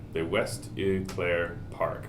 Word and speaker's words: Eau Claire: The West Eau Claire Park. Eau Claire? Like French? Yeah. Okay. Eau Claire. Eau Claire is probably closer.